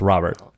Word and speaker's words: Robert: How about Luis Robert? That's what I said. He said Robert. That's how you say it. No, it's Robert.